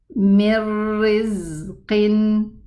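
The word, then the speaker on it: مِنْ رِزْقٍ: So it's going to be pronounced like this. Mir rizqin, mirri. There's no ghunna and there's no noon.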